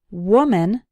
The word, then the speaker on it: woman: Today, I'll teach you the correct ways to say common words that English learners often mispronounce. Let's start with these. 1 woman, 2 or more women.